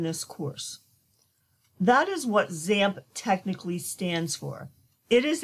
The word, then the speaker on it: XAMPP: to show you the basics for installing the zamp software you will typically here zamp pronounced as Samba the X being pronounced as